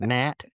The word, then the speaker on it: gnat: On a hard word like gnat cuz you know it's got that silent G in it and it it cuz we were very young.